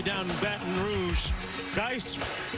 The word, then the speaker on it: Guice: As they say down in Baton Rouge, Guice rhymes with red beans and rice.